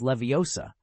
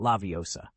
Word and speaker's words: Leviosa: "Besides, you mispronounced it. It's Leviosa, not Laviosa.